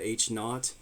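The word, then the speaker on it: H₀: perhaps we reject it we use H Sub Zero known as H naught so we pronounced that H naught to refer to the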